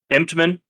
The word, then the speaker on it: Emtman: Oh, good Lord, how do you pronounce his name? Emtman.